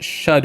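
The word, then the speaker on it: Scadu: Sc is pronounced shadow and means shadow in old English.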